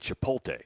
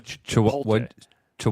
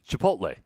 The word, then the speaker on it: Chipotle: we we go to chip to what Chipotle how do you say it well you're switching some letters around on me there I am it's chipot Le Chipotle what did I say Chipotle